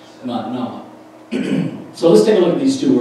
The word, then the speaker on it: Manah: And Manah, because it has a single N, it's a little shorter, Manah. And it's kind of Manah, two syllables there, Manah.